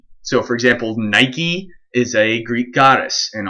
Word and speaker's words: Nike: this already but in when we're pronouncing greek names we always pronounce that last e so for example nike is a greek goddess